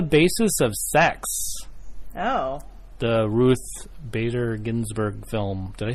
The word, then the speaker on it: Ruth Bader Ginsburg: the Ruth Bader Ginsburg film.